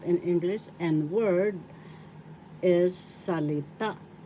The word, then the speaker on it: salita: English and word is salita salita first syllable sa second syllable le third syllable The accent is in the third syllable.